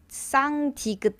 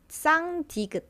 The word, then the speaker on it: 쌍디귿: So you would feel it kind of touching on the back of your front teeth. And try to breathe it out while putting your tongue over there. Then that's basically how you pronounce 쌍디귿.